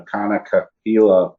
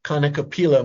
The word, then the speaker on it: kanikapila: And then one last thing, David, if someone wants to be involved in the Kanikapila project, I hope I said that right.